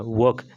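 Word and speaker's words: work: जैसे वर्क, डब्ल्यू ओ आर के पहले क्या वोवेल आ गया ना, फिर इस आर का उच्चारण नहीं होगा, ये आर साइलेंट हो जाएगा। वर्क, क्या बोलेंगे, वर्क।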